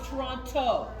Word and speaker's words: Toronto: It's pronounced Toronto.